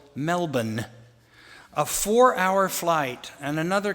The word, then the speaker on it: Melbourne: we headed to Melbourne which is pronounced I was told Melbourne a 4-Hour flight and